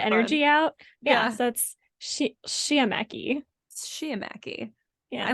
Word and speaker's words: sciamachy: Sciamachy. Sciamachy. It's something where it's like the S and the SH sound. So Sciamachy, something like that.